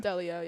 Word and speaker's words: Delio: this season as well Emerson Deo is how you pronounce her last name Delio yeah Delio okay I